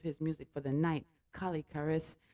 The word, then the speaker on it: Colle´ Kharis: music for the night, Colle Kharis. Yes, pronounced Collay Karis.